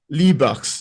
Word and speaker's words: Libaax: People have like the X is a hand, Somali. Somali, the language is written in English characters, but it's Mm. phonetically pronounced. Oh, Yeah. So wow. CA would be ah. Ah, XA would be ha.